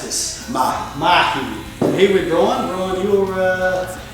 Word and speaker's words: Mahi: I'm at, how do we pronounce this? Mahi. Mahi.